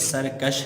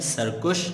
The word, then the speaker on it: سرکش: یہ لفظ اس کا درست تلفظ سرکش ہے, سرکش نہیں ہوگا.